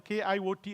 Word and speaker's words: KIoT: I would like to pronounce the KIoT as a kite. It's going to take off and fly.